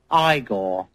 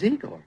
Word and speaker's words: Igor: hey ah ah you must be eigor now it's pronounced igore but they told me it was eigor well they were wrong then weren't they